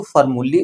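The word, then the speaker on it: formulae: जब हम एई लगाते हैं तो फार्मूली उसका उच्चारण होता है, जब हम एस लगाते हैं तो उसका उच्चारण फार्मूलाज होता है।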